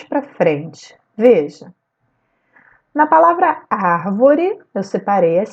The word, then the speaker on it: árvore: Na palavra árvore, eu separei as sílabas ar-vo-re. A sílaba tônica da palavra árvore é ar.